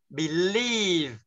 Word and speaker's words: believe: Rồi, believe, nhấn lên một chút. Trọng âm nào chứ, trọng âm là phải nhấn vào đó. Chứ không phải đọc là believe, believe, believe. Đấy mà believe, nhấn nào.